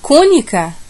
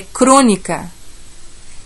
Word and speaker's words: crônica: o gênio e agrícolator eu posso falar cônica não embora exista a palavra cônico é crônica crônica aquela historinha que a gente lê então a gente não